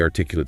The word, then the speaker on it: articulate: For example, she is a highly articulate speaker, the emphasis is articulate.